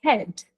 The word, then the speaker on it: head: something like my head no it's not my head it is my head there is H there pronounce the h so even when you've